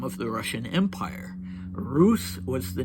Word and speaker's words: Rus: Uh okay so then Dimmitri refers to Roose Rs and in Russia in Russian it has something called a soft sign uh that's not pronounced.